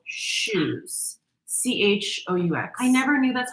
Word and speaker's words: choux: They're called choux. CHOUX. I never knew that's how you A pronounce it. shoe.